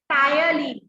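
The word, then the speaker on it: ptyalin: It doesn't have any protein or lipid digestive enzyme, but it has carbohydrate digestive enzyme called thiolene. Thiolene spelling you be careful. P thiolene होता है, P is silent.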